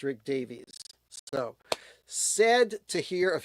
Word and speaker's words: Rick Davies: And uh, no, it's not uh, Rick Rick Davis because I know that um, Ray Davis from the Kinks, everybody pronounces his name Ray Davies and it's not that. It's Ray Davis, but Rick Davies from Super was definitely pronounced Rick Davies.